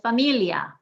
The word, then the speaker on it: familia: sound farmacia or macia thing with familia the i and the a at the end is one sound we're emphasizing the second to last familia secundaria same thing okay